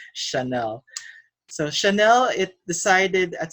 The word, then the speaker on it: Chanel: too Chanel okay my mother means and they pronounce it shadow but it's Chanel so Chanel it decided at some point to